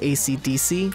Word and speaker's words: AC/DC: And as a side note, I definitely know it's pronounced AC/DC.